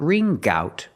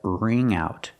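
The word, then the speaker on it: wring out: There's no G sound. It's not ring. R. I'm going to get it back if I have to ring out every one of you like a dish rag. Ring out. Not ring gout, but ring out.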